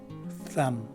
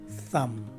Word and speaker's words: thumb: The letter B at the end of the word is dropped and not enunciated at all, just like the word climb.